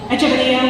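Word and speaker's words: Echeverría: Echeverria, with its rolled R and its accent on the penultimate vowel, resists the easy rhythm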